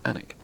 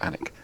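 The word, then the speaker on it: Alnwick: I live in the small country town of anak you might think you'd ever saw it written down it's on WIC but now it's pronounced anak because place names in England generally make no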